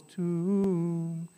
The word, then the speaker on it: tuum: Right, you hear the two syllables, tuum, adveniat regnum tuum.